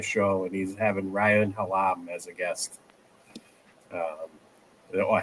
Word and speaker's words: Hallum: on Friday, DFS show, and he's having Ryan Halam as a guest. Um, or how do you pronounce his name? Is it Halam or Hallum? I don't know how to pronounce it. Halum.